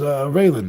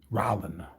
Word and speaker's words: Rollin: Oh, that was Raylan now up top. Ray, whatever his name is. Rollin. I've been saying it wrong this whole time.